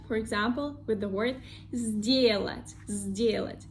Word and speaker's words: сделать: Here we see the letter s, that is voiceless, and second one, d, is voiced. So the first one, voiceless s, become the sound z, voiced, because the second one also voiced. So we have two voiced consonants. Сделать, сделать, сделать.